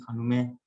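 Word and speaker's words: خانم: Mungkin nanti dipanggilnya di Iran mungkin bisa jadi Khonume Fatimah. Khonume Fatimah. Ya. San Oye Arif. Khonum ya, khonume. Khonume. Bacanya khonume. Ya, ibu.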